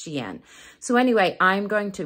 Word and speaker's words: Shein: and even at xi'an a lot of people think it's spelled or sounds like shine but it's s-h-e-i-n and it's xi'an so anyway i'm going